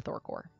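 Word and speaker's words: Thor Corps: Thor Corp right the the p is silent so it's Thor oh really but it's about with a p yes okay yeah it is the Thor core um so yeah so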